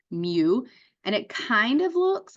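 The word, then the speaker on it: μ: population mean is Mu it's Greek letter M pronounced Mew and it kind of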